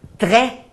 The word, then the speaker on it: très: O acento grave abre o som. Por exemplo, quando a gente diz très bien, très, tem acento grave.